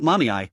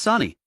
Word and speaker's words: Sani: "It's not mommy, it's Sani. How can you get both syllables wrong when there are only 2?